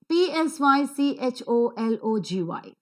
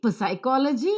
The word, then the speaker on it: psychology: is pronounced as e p l e is pronounced as per sound so people the next two words are very interesting p-s-y-c-h-o-l-o-g-y now p s wherever they occur in the